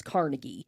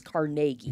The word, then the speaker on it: Carnegie: but supposedly I mean I always thought it was Carnegie that's what most Real Americans do well yeah that's that's the common pronunciation but in in Pittsburgh the consensus is that the the proper way is carnagi they just want to be different than the rest of the country it's Carnegie prer the